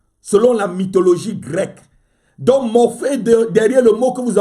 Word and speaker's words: Morphée: Ce démon s'appelle Morphée. Ça s'écrit M-O-R-P-H-E-E.